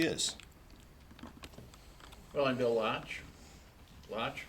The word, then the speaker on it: Laatsch: Laatsch rhymes with crotch.